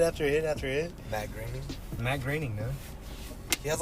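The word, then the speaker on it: Groening: Matt Graing. Matt Graing. No, he has like an X in his signature. That always threw me off. I used to pronounce his name Matt Goring or some like that.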